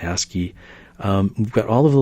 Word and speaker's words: ASCII: It's just pronounced ASCII.